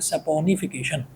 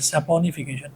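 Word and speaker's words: saponification: का, उसको बोलते हैं सपोनिफिकेशन। यही स्पेलिंग है, ये मत सोचना कि सोपनिफिकेशन होगा, वो मैंने गलत नहीं लिखा, सही है सपोनिफिकेशन। ए पहले आएगा, ओ बाद में आएगा।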